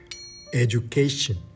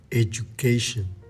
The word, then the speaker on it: education: Cada vez que veas una U al lado de una D en una vocal que no está acentuada, vas a decir Y. Y. Education. Education.